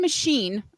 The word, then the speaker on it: Mahshene: The band is called Sun Machine, and I think I'm pronouncing that correctly because it's spelled MAHSHENE. So I would say machine, right?